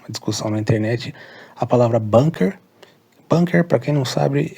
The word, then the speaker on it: Bunker: errado a gente pronuncia Bunker a pronúncia é com a mas ele se escreve com u Bunker então a escrita é b u n k e r mas a pronúncia é